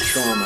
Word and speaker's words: Tuam: Mary's Home for Mothers and Babies in Tuam. It's pronounced Tuam, actually.